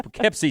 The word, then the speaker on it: Poughkeepsie: It's 2007, number 5 on our list, the Poughkeepsie tapes. Did I pronounce that right?